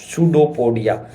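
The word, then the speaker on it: pseudopodia: कहलाते है इस called सूडो पोडिया spelling P से स्टार्ट होती है याद रखना ठीक है सुडो पोडिया क्या बोलते हैं शूड पडिया ऐसे कर्व बना द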